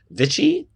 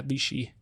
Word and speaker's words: Vichy: I'm going to butcher this pronunciation, but you'll have to just correct me if you speak French. Vichy? Vichy. You're close. Vichy? Yeah, Vichy.